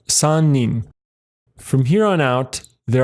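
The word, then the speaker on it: 三人: But to talk about 3 or more people, we use the onyomi. So for 3 people, that's sannin.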